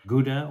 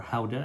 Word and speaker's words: Gouda: You're talking about Jarlsberg, Emmentaler, Gouda, or Gouda, that's how they pronounce it in the Netherlands.